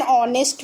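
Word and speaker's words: honest: जब कोई भी वर्ड जो होता है वो साइलेंट एच से स्टार्ट होता है तो उसको भी हम लोग एन आर्टिकल यू के द्वारा यूज करेंगे, जैसे एन आवर, एन ऑनेस्ट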